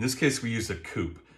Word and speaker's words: coupe: martini glass in this case we use a coop it's not necessarily pronounced coupe so you're not out of line calling it a coupe the history is that it was fashioned after